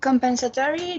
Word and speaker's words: compensatory: Compensatory. This word as 5 syllable, and the stress is in the third syllable.